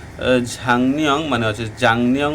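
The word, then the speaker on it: 작년: খোয়াজাং বলতেছে যে ঝাংনিয়ং মানে হচ্ছে জাংনিয়ং উচ্চারণ হচ্ছে, যদি গিয়ক বা চিমের উপরে নিয়ন আসে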